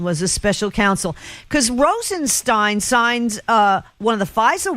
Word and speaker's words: Rosenstein: absurd you talk about Rosenstein it's actually Rosenstein who cares I'll bring that up once again it it rhymes with stirring spin now you'll remember that